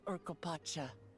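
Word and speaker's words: Urqopacha: remains for those who would claim the throne uropa uropa I like saying it now that I know how to pronounce it so this is oropa I've never actually been here before odd like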